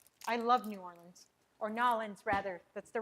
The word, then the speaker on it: New Orleans: The Burley Earl says Nolans. Nolans. That's how you pronounce it in a New Orleans accent. Nolans. Hey, you're right. People are like, New Orleans. New Orleans, Nolans.